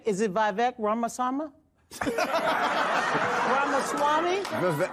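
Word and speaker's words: Ramaswamy: other I'm V is it VC ramasama ramasami ramaswami thank you so much I learned so much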